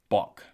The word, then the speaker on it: Boke: It was this gentleman's grandfather who has reported to have shot the boke, pronounced bock.